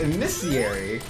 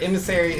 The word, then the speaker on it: emissary: would you know that he says it amiss cieariy instead of the other one where emissary emissary earth volt i'd